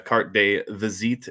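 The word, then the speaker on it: carte de visite: Um I pulled one of the cart de vazit is how it's supposed to be pronounced.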